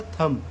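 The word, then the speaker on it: thumb: थंब नहीं पढ़ा जाता, इसको पढ़ा जाता है थम। थम क्यों पढ़ा जाता है? यम के बाद देखिए क्या आ रहा है? बी आ रहा है, तो बी क्या हो जाएगा? साइलेंट हो जाएगा।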